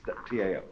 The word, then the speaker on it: Tao: are you a Democrat we should have spelled it d w you see but it's Tao and this character here